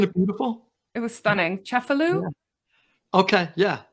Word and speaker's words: Cefalù: Cefalù. Yeah. Okay, yeah. Like sort of the north. We say Cephalou, I guess, in the United States, but I think you're pronouncing it correctly.